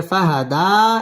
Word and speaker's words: فهدى: গুন্নাহ করে পড়তে হবে ফাহাদা এক আলিফ টান দিয়ে ওয়াকফ করতে হবে ওয়াজাদাকা দাল্লান ফাহাদা ووجدك